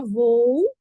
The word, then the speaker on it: voo: Então, a palavra voo, por exemplo, de voar, se separa. Mesmo ela sendo tão pequenininha, parece até uma monossílaba, né? Mas não é. Essa palavra se separa assim, ó. Vou, ó.